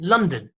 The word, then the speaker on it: London: Okay, it spells London, but we actually pronounce it London.